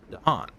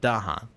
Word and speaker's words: Dahan: reading somewhere that said according to Eric Rous the pronunciation is danan and not Dahan but you know anyway